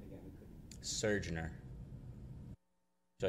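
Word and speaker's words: Surgeoner: Surgener. Would you like me to spell that?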